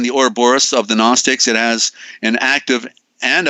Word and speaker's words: Gnostics: the or abhorrest of the Gnostics there's a silent G for the Sun for